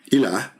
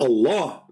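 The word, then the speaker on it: إله: But al-ilah, ilah, is simply E-L, and there is little H at the end, like a sound of a music. Ilah. Still, it's ilah. It's not Allah.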